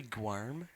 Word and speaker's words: Guillaume: name's Guillaume. I need to get roasted by a French person because probably not even pronounced like that. It's actually Guarm. Guar. There's no R in it.